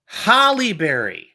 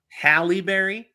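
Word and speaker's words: Halle Berry: prediction okay number nine Hollyberry did I say it right no you went back to your original wrong halberry yep all right Hal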